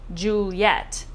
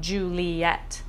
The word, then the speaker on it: Juliet: Well, first, in order to get 10 syllables, you discover you must make Juliet's name 2 syllables instead of 3. So it's Juliet instead of Juliet.